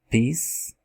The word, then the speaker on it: peace: Isso acontece também na palavra peace, peace. Você percebe, não tem um som de I no final.